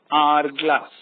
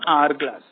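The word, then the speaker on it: hourglass: next 13th one dash our glass here the first letter and our glass here the first letter of a word r is h and h is silent here so we use the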